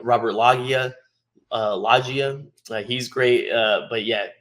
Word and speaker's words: Loggia: How do you pronounce Robert Loggia?